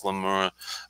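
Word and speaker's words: Glen Moray: familiar with glenmora uh spelled g-l-e-n space m-o-r-a-y pronounced glenmora um trying to think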